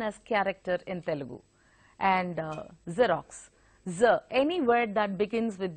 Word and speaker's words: Xerox: We make it a point to pronounce that X as X. So we say Xerox or even Xerox. So it is actually a Xerox.